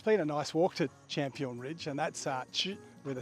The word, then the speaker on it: Campuhan: Well, it's been a nice walk to Champion Ridge, and that's ch with a CH. The C in Indonesia is pronounced with a ch.